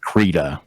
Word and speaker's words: Krita: It's either Krita or Krita. I get the developers say Krita.